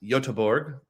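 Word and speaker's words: Göteborg: Uh, Yuri thought I mispronounced Yotborg. I used the anglicized treatment of Goththingberg.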